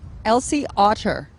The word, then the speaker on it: Elsie Otter: How do you say it? Elsie Otter, like the sea animal.